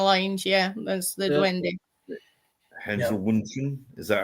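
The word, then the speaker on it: Heinzelmännchen: Hensel Wunschen, is that how it's pronounced? I can't pronounce it, but the A with the umlaut I think is more a E, like Männchen, Heinzel Männchen.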